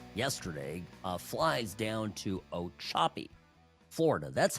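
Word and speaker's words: Ochopee: So Trump yesterday uh flies down to O Choppy, Florida. That's how you pronounce it. O Choppy. The Florida names, all the Indian names, it's difficult sometimes. So O Choppy is where they're building the Florida Alcatraz.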